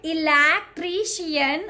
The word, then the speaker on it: electrician: Okay, we have to either stress on one or two syllable, but not on all the syllable. Okay, so don't call it electrician.